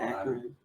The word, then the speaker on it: Akron: Akron.